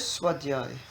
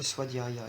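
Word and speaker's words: svādhyāya: Pronounce it? Swadhyay. Swadhyay. Swadhyay. Or Swadhyaya if you want.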